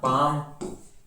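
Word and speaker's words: palm: फिर देखो silent L, एल भी साइलेंट होता है, जैसे एमंड, बाम, काफ, काम, चाक, कुड, फाक, हाफ, हॉक ना, पाम, Simon, should, torque, walk, would, याक। तो यहां पर एल की ध्वनि शांत होती है, ऐसे बहुत सारे वर्ड है।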